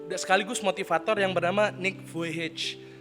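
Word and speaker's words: Vujičić: Nah, saya mau mengambil teladan pada masa kini, yaitu teladan dari seorang hamba Tuhan sekaligus motivator yang bernama Nick Vujicic. Tulisannya Nick Vujicic, tapi dibacanya Nick Vujicic.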